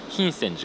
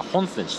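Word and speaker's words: 品川寺: のお寺、品川寺と書いて品泉寺かなと思いきや本泉寺、そんな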